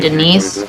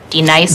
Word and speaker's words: Denise: Now D nice. Do you mean Denise? Son of a bitch! You say your name right now. Denise? Say it right. Denise. Correctly. Denise. Right. Denise. Right. D nice. That's better.